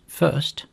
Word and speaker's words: fst: is the FST function which is pronounced first it takes a tuple